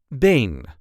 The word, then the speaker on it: been: and this time we will see how to pronounce in a regular Dutch accent Bane or leg in English this is how we